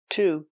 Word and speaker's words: to: Same preposition, to. He had an allergic reaction to peanuts. He had an allergic reaction to peanuts. Remember, to is pronounced t because it's not stressed in the sentence.